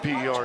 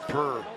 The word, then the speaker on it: PER: And that PER is just that's pronounced per, as in per game.